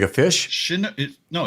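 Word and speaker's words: Chinook: Shinook? No, it's shinook. Right. It's not shnook. It's shinook. C h i and then nook. So it's I believe it's two syllables, not one.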